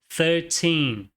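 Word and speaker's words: thirteen: Então nós falamos 13. Então, qual é o erro comum aqui? Muita gente desconsidera a segunda sílaba como tônica e acabam pronunciando thir 13. Veja só, o correto é 13.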